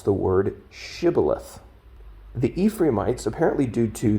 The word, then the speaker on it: shibboleth: at the river would ask the individual to pronounce the word shibboleth. The Ephraimites, apparently due to their native dialect and way of speaking, pronounced the word incorrectly or differently. They would say, instead of shibboleth, they would say sibboleth, which would give away